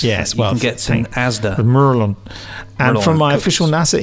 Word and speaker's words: Maryland: emailed from he says the natives pronounce Maryland he's written mu u mu RR LAN Merlin Merlin or the Merlin though if you want to do the standard British version merry lads make merry